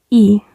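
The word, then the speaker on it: ㅣ: La siguiente es la vocal I. Como vemos, es la I que también es en español, simplemente no tiene el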